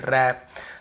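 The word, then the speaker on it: wrap: सीधा ही देख लीजिए जैसे डब्ल्यू के साथ यदि आपको आर मिलता है तो डब्ल्यू को नहीं पढ़ना है और आप देखेंगे यहां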